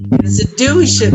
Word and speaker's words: institution: very good institution institution so the stress is on you institution so let's say